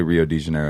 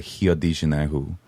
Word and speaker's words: Rio de Janeiro: the weirdest language crazy like you don't say rio de janeiro you say hi odi it's like and how did that happen because